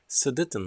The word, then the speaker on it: Sudetenland: pronunciation for that okay the right pronunciation is sudetenland land sadittan land okay this is the correct one okay so what what